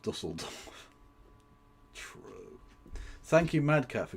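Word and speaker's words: Düsseldorf: It's actually pronounced Dusseldorf.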